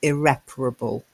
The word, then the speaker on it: irreparable: A slightly different pronunciation. Unrepairable, irreparable.